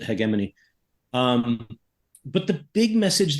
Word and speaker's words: hegemony: um interestingly they use the British pronunciation of hegemony they use hegemony um which the Brits rationalized by saying the hard G in the original Greek okay fine but then